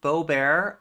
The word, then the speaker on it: Boebert: at each other over it is pronounced Beau bear oh I'm sorry am